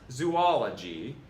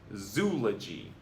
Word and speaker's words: zoology: It's not zoology, it's just zoology. Rhymes with eulogy.